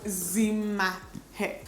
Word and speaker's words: Dimma Umeh: So the M is like a double M, and I have a double M in my name as well, and when I see double M's, I pronounce it as ma.